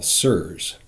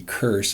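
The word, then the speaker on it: CIRS: that we call sirs chronic does start with a hard C serves as a soft C but if we use the hard C it would be curse and that just seems like piling on right there sick enough already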